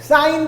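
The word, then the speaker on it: sine: है, सिन theta लगाओ, एक सिन थीटा नहीं है वो, साइन थीटा है वो गाइस, सिन प्रोनाउंस मत करना। फाइन, jokes apart, but don't pronounce it एट सिन, इट इज साइन, साइन साइन, ठीक है।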